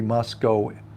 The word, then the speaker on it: Moscow: life for saying Moscow it's not pronounced with the w it's pronounced like Moscow